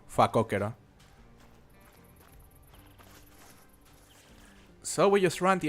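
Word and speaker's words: facóquero: The The way you say warthog in Spanish is fakokero.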